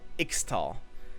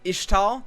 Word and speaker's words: Ixtal: malphite is like from ixtal apparently it's pronounced ishtal if i'm gonna if i'm gonna pronounce it ishtal i'm gonna have to